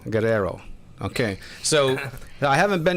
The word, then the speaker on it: Guerrero: How do you pronounce it so I don't hack this up? Guerrero. Guerrero.